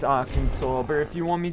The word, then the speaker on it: Arkansas: you, R. Kansas. And yes, I know it's pronounced Arkansas, but if you want me to pronounce it Arkansas, spell it flipping Arkansas and not R Kansas.